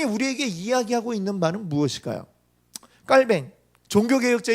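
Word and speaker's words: Calvin: 이야기하고 있는 말은 무엇일까요 깔 뱅 종교개혁자 인 이빨 뱅 칼빈이 라고도 우리가 부르는 데 보통 발음이 깔 맹 이래요 그래서 깔 밴 이라고 하는데 깔 명에 이렇게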